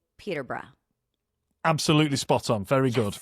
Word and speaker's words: Peterborough: Well, I'm going to say Peterborough.